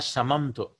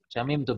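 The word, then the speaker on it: شممت: Shamimtu, yes. This is what. This is not shamamtu. Shamimtu, because it is bab samia.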